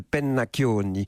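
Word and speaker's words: Pennacchioni: mon nom mon nom est corse je m'appelle peine maccioni mais comme j'ai jamais trouvé quelqu'un foutu de prononcer mon nom jusqu'au bout cette venue pennac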